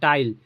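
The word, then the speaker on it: tile: जैसे टी आई एल टाइल तो आई एल ई तो आई उसके बाद कंसोनेंट एल फिर ई है तो ये क्या निकले?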